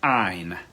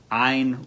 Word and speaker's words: Ayn: to you uh ein her name is spelled a a y n pronounced ein ein rand r-a-n-d atlas shrugged